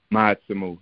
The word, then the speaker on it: Ma'atsumu: It's called Ma'atsumu. Did I pronounce it correct? Ma'atsumu, yeah.